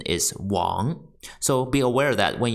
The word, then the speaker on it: 玩: the third character play pronunciation is wa and second tone one the fourth character